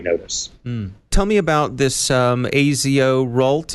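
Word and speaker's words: AZORult: tell me about this a zo Rolt is that how it's pronounced I believe it's pronounced as roll but that's a really a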